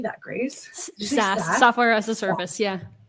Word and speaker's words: SaaS: SaaS, software as a service.